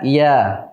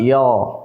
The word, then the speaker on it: ي: ataupun tipisnya tertib saya Kita mengucapkannya Iya Bukan iyo ya Iya karena dia punya sifat istifal kemudian sifat selanjutnya adalah